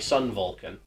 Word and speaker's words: Sun Vulcan: similar thing with an earlier Sentai 1981's taosenai Sun Vulcan yes it is pronounced like that stanlee could not find any